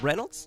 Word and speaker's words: Reynolds: And we have Reynolds.